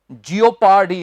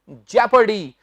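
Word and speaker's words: jeopardy: और इसका उच्चारण भी बहुत से लोग गलत कर देते हैं क्या करेंगे इसे जियोपार्डी है रख इस का सही उच्चारण है जैपर्डी जैपर्डी इन जैपर्डी हम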